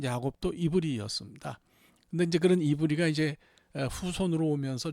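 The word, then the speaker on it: עברי: 구역 성경에 나오는 히브인데 히브리라는 이름은 사실은이 히브리 말로는 이브리라고 읽습니다. 이브리.이 이브리라는 단어는 아바르에서 왔어요.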